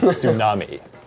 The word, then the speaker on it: tsunami: Takei at Tsunami. Oh my. Tsunami. To pronounce that T, tsunami.